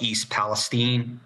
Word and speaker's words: East Palestine: chemical spill in this town called East Palestine that's how they pronounce it here um and already people